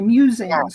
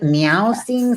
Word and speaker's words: Mewsings: is really just kind of my meanderings, my musings, and it's called Musings, MEWSINGS, because I love cats. I was like, is it meow sings?